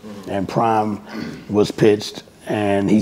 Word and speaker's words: PRhyme: And PRhyme was pitched, and he said, but we're not going to spell it P-R-I-M-E. We're going to spell it capital P, capital R for Premier Royce, and then the H-Y-M-E is for Rhyme. You know, and you're the second one to say P-Rhyme, which is PRhyme.